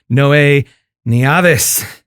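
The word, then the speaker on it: Noé Neaves: for having me yeah i actually pronounced your name right didn't i you did well i did well hey i get i get so look my name is spelled n-o-e with an accent over the e right i get i'll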